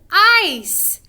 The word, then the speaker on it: ice: But instead of making a C sound, it is a soft C. So it actually makes the sound of an S. Like this. Really, we kind of hear the S sound.